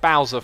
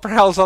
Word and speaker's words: Browser: It's a donation here from Browser V2 saying pronounce my name like Bowser from the Mario, not browser like Chrome.